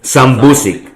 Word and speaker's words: sambusik: But how do you pronounce it? Sambusik. Yeah, same as us. Okay. Yeah, so some words are not. Some people say sambuski. Yeah. Well, sambuski is the singular. Sambusik is the plural.